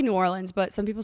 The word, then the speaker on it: New Orleans: Well, this is just my head cuz you just said New Orleans. You're obviously from there. Am I saying it right? New Orleans or New Orleans? I say New Orleans, but some people say New Orleans.